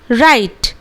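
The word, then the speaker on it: write: हैं number seven पे अगर किसी शब्द में ब्लू के बाद ए रहा तो डब्लू का उच्चारण हम लोग नहीं करेंगे यस अगर कोई शब्द में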